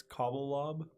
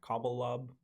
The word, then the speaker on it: Cobblelob: It's Cobblelob, like cobble Cobblestone. and lob. One word, and then loft. L-O-B at the end? Yeah, Cobblelob, and then loft.